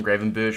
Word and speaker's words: Gravenberch: Either way, that was absolutely class from Gravenberch for run.